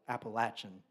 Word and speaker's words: Appalachian: He hiked the entire Appalachian Trail, Appalachin Trail. Sorry, I I say it like a northerner. I'm supposed to say it, Appalachin.